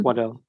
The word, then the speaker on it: Waddell: Am I pronouncing it right? Is it Waddell? Yes, it's Waddell.